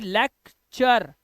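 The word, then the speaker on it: lecture: ऐसे ही लेक्चर, यू आर ई को अर पढ़ना है, तो लेक्चर, फ्यूचर। और आपको भी पता है कि टी के बाद अगर यू आर ई होगा तो टी का उच्चारण टा नहीं होता है बेटा, टी का उच्चारण चा हो जाता है।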